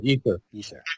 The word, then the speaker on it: ether: the substance of of space what is the ather if I'm pronouncing that correctly yeah ether ether it's spelled in two different ways e t h